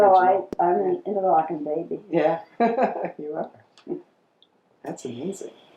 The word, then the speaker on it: Interlaken: borough in Interlaken Switzerland I'm one of the few people who still says interlocking that's ER I can't help it that's the way it's supposed to be pronounced but nobody knows that so secret so tell